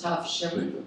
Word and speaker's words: Tavshilin: The Eruv, and we do pronounce Tavshilin. Yeah, Tavshilin ceremony is performed on Wednesday, and when Yom Tov begins on Thursday, it is performed on Thursday.